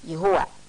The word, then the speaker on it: Jehovah: Judaism and served it jehovah pronounced yahuwah the god of good